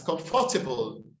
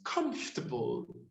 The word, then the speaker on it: comfortable: chocolate but it's chocolate it's as comfortable but it's comfortable it's built as entrepreneur